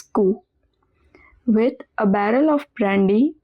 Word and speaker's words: cou: Ku means neck, pronounced as ku.